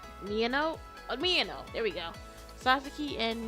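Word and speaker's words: Miyano: the two animes we'll be doing Sasaki and Mia I can never say his name Meo Meo there we go Sasaki and Meo on the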